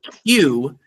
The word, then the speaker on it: Qdoba: Qdoba. So it's like adoba, but instead of an A, it's a Q.